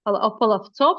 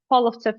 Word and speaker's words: Polovtsev: that belonged to the Polovtsev family. Polovtsov, sometimes it's pronounced and spelled, but Polovtsev is I would say the one that I'm used to best.